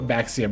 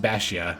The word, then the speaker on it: Baxia: Oh, this is also pronounced Baxia, I think, not Baxia. You don't hard pronounce the X in this, so, I mean, I'm